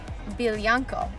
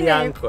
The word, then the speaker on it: Biljanko: What do you think of Biljanko? Biljanko, okay. That sounds like a pony name in Serbian. A pony Biljanko, name. Yes. Or Jankijana. Okay, I like Biljanko better.